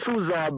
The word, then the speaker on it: Suzar: Suza, by the way, is spelled Suzar.